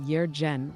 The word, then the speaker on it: Jurgen: It's pronounced Yerjen Windller. Like a mystical Scandinavian throat singer, not a German DJ.